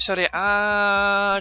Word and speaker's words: Serie A: I've just called it Serie A just because that's how you pronounce it, you know what I mean?